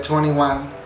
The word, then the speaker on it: 2NE1: Entonces dijeron, hay más perras, les ponemos la N en medio y se sigue pronunciando de la misma manera, pero se llama diferente, o sea, no va a haber pedos legales y así.